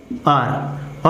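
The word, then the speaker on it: hour: ठीक है, तो अब आप देखिए इसका प्रोनाउंसिएशन क्या होता है, आर।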